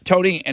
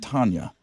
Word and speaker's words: Tonya: this is impeccable uh Tony and his wife I believe it's pronounced Tonya Tonya not Tanya uh wife and I